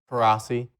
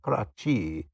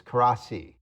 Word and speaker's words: Coraci: Coraci. Yeah, see, I would have said that Mhm. wrong. I would have gone with the Coraci, but it's Coraci.